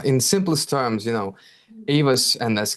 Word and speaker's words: AEVOS: uh in simplest terms you know AOS and that's correct pronunciation brother but you're right uh it's a